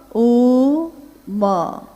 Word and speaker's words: ओम: दी जो प्रकट हुई उस ध्वनि की आवाज थी आ ओ म अगर एक साथ सुना जाए उसको तो उसकी आवाज गूंजती हुई ऐसी है जैसे हम बोलते हैं या उच्चारण करते हैं तो हम कहते हैं ओम है वह अ उ